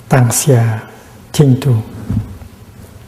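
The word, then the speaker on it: 當下淨土: And in modern Chinese, it's written it's pronounced Tang Xia Jing Tu, the Pure Land in the here, in the present moment.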